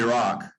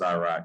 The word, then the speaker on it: Iraq: Yeah, we call it Iraq or Iraq, however you pronounce that, right? A more anglicized, maybe American pronunciation is Iraq. So it's Iraq, right?